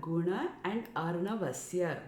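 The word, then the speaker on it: गुणार्णवस्य: quality of extinguishing so it's not ghana it's ganagan it is made up of two words guna and arnava so this word gunnar navasiya guna and arnavasiya guna and it means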